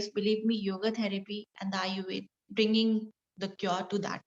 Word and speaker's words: Ayurveda: If you divide this Ayurveda into the two parts, long life and knowledge. So write it down and then explain. So Ayu plus Ved. The pronunciation is not Ayurveda, it's Ayurved.